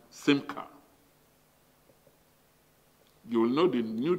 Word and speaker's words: simcha: the word chara, and the Hebrew version is smicha, pronounced simcha.